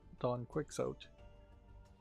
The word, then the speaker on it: Don Quixote: Which actually is supposed to be pronounced, from what I hear, Don Quixote.